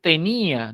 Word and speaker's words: tenía: Y no es tenia, en este caso es tenía, del verbo tener, ¿no?